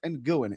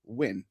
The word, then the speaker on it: Nguyen: It's not pronounced Nguyen. It's a Vietnamese name. It's Ted Nguyen.